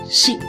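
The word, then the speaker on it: 四: In Japanese language, number 4 is pronounced as shi. There is another word which has completely same pronunciation. That is death.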